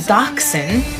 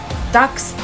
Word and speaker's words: dachshund: like it's not a dachshund or a hot dog it's a dax because it's a german breed and in germany that's